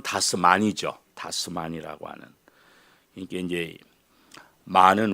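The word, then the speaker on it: das Man: 쓴 책 이름이 다스멘 다스맨 다스면이라고 하는 독일어 발음으로는 다스만이죠 다스만이라고 하는 이게 이제 많은 우리 말로는 맨이고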